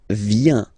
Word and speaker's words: viens: So, the first form is je viens. Je viens, okay? Remember this I, viens, viens, and then this nasal, final S not pronounced.